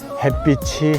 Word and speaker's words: 햇빛: 햇빛이 치이나 티이나 다 치로 해 버리는데 이것도 잘 못죠. 햇빛이 햇빛은 햇빛을 그다음에 햇볕이 햇볕을 햇볕은 이렇게 발음해야 되지 않습니까? 빛과 벽이 구분도 해야